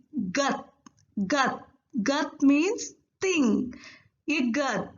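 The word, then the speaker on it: 것: We have to pronounce this one as gus, right? We already discussed if any syllable ends with sa sound, we have to pronounce it with ta sound.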